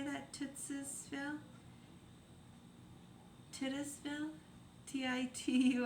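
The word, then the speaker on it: Titusville: Tittisville.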